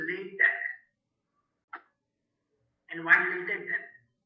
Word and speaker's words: LaTeX: can always use latex it is not pronounced as a latex usually people pronouns it has a latex it is a late Tech and once you take